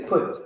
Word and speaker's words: Put: on some scholarly stuff when you see a p in the h together usually that can be pronounced as a f like but for this class we'll just say put right so north africans